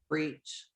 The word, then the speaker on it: breech: Breach. Breach? Is that how you pronounce that?